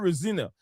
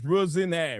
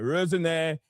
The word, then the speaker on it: Rosenior: Yes, the right pronunciation is not Rosina. It's not Rosina. It is Rosinire. Rosinire.